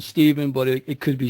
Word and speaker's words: Stephen: welcome to the show thank you very much Stephan or Stephen because I hear some people call you Stephen okay well it's it's it's I like the pronunciation Stephen but it it could be Stephan I mean